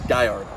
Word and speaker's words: Gallardo: They don't pronounce the L's, they pronounce the L's as a Y, so it's Gallardo.